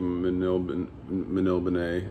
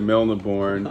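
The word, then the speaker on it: Melniboné: I am right in the middle of listening to the 4-part Elric of Manilbene. I always called it Melniborn, but now that I'm listening and not reading it, I have to pronounce it correctly.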